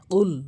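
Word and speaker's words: قُلْ: বা আপনি বলে দিন কুল বলতে হবে কফটা হচ্ছে জিহ্বার গোড়া থেকে উচ্চারণ হবে কুল ধাক্কা দিয়ে উচ্চারণ করবেন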